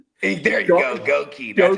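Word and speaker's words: Goedeke: Gookie, dude. That's a up name. Goi. There you go. Goki.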